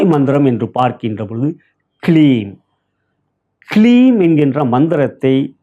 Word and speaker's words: கிளீம்: கிளீம் என்கின்ற மந்திரத்தை கே எல் இ M clean இக்